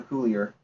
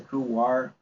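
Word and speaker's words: couloir: this one not a coolier or a cooler it's a cool War pronounced as a w here and it is a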